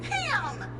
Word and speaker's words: Pam: L bits uh P the name is Pam it rhymes with scram right sorry hi I'm